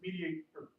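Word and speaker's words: MediatR: Is the tool actually spelled without the O? Yeah, it's like Flickr. It's Okay, it's Web 2.0. So yeah, it's Mediator.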